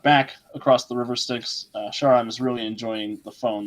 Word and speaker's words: Charon: Charon. Okay, that's interesting. Okay, that's how you pronounce I it. thought her name was Karen.